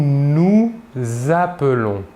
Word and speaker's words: nous appelons: Nous faisons une liaison entre le S final du deuxième nous et le verbe appelons. Nous nous appelons.